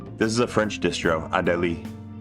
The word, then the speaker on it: Adélie: Yeah, this is a French distro, Adélie. Now that E has an accent aigu over it, which means you pronounce it like a A.